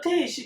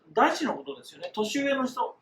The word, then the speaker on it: 弟子: Next, “弟子”, pronounced as “teishi” not “deshi”, which means man’s young people.